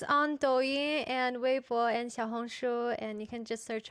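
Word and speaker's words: 小红书: Xiaohongshu. Xiaohongshu. Yes. That's how you pronounce it.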